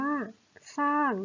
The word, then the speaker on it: สร้าง: ส่ง เลย คำ ว่า สร้าง นะ คะ ออก เสียง สอ เสือ ตัว เดียว 2 ออน 3 โทน